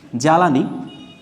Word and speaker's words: জ্বালানি: তাই এর উচ্চারণটা হবে না না হয়ে এর উচ্চারণটা কি হবে ধ নৈরসিকারে নি ধ্বনি জ্বালানি তাহলে বর্গীর জয় আকারে চা লা নয় এর